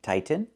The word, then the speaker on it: tighten: We cannot pronounce the t as a fast t. The word is pronounced two different ways. You can say tighten and make a real tighten. Or you can make a stop tight and then go to the end.